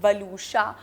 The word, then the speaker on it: Waluscha: My name is also not very easy to pronounce, वलूशा, मगर people have started knowing how to pronounce the name.